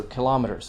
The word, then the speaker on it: kilometer: gigabyte megabyte kilogram kilometer but also kilometers so kilometer which is a greek pattern kilometer the word became